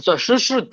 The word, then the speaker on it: सुश्रुत: अनसाइंटिफिकली इलाज कर देते हैं कि जैसे आपको सुसुप्त भाई ऋषि थे। अब, हाँ जैसे जैसे सुसुप्त नहीं वो ऋषि। सुषिप्त, सुश्रुत थे, सुश्रुत, हाँ, सुश्रुत ऐसे जो सुश्रुत।